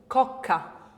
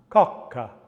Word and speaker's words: cocca: Cocca. Cocca. Can you hear that? So that we have that unvoiced plosive consonant up against your tongue, up against in front of your uvula.